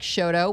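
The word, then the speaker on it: Chouteau: of our street names like Shoto which is butchered it's not pronounced that way in France does not matter and the Cleaves Landing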